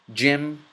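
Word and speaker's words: جيم: with a G and in the Arabic language there's no G there's only a j okay so job Jim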